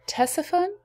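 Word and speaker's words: Ctesiphon: is the palace of tessaphone i looked that one up too the c is not pronounced uh was created by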